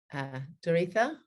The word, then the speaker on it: Doretha: Doretha, is that how you pronounce it?